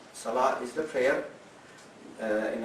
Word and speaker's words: Salah: is the call to the prayer that we pronounce every time before the Salah Salah is the prayer uh in Arabi s a